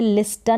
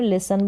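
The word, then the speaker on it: listen: करके हो रहा है टी यहां पर जो है लिस्टन नहीं बोल रहे लिसन बोल रहे टी साइलेंट है सर्च जो हमने पहले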